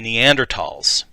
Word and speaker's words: Neanderthal: The most well-known and important of these groups are the Neanderthals. Modern spellings do not include the H, which was never pronounced in any case.